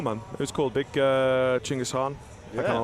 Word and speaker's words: Chinggis: One of my friends swapped my face with the face of Genghis Khan. Chinggis. Got to say it right when you're in Mongolia.